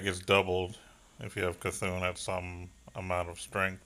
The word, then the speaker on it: C'Thun: I used to be like, yeah, it's my C-thun.